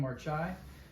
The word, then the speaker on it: Marchaj: a book by uh marai that's how you pronounce his name marai um he did a